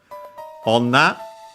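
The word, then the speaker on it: 女: Onna, accented on the last mora, and in this case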